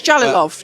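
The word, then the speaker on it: Jalolov: But then listen Jalilov I don't know how to say it I think I said it right. Yes Jalilov Jalilov.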